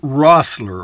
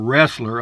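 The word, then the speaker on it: Roessler: Fred Rossler, or Wrestler, I guess this is pronounced Rossler, R-O-E, Rossler.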